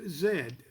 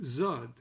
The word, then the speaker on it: Z: when it comes to the letter z which the english currently pronounce as zed and in d in kelly's day was pronounced zod the angels did on